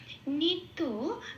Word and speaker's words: নিত্য: নিত্য, নিটা যেমন আছে তেমন, তোতে একটু লাল দিয়েছি কারণ তয় জফলা আছে। জফলাকে সংস্কৃততে 1 নম্বরে তালিকাভুক্ত করে দেওয়া আছে, ওরা হস্যই প্লাস অন্তস্থ ইয়া বলে উচ্চারণ করে। তো আমি সেই জন্য তয় জফলার উপরে হস্যই প্লাস অন্তস্থ বসিয়ে দিয়েছি। এখানে এই তয়ের সাথে হস্যই প্লাস অন্তস্থ পড়িয়ে দিলে যে উচ্চারণটা বেরিয়ে আসে তিয়া, ঠিক সেই উচ্চারণটা হবে নিত্যা। আবার সোর ক্ষেত্রেও তাই, এখানেও